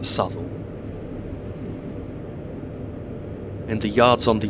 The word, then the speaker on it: Southall: It's spelt Southall, but I believe that it's pronounced Southall.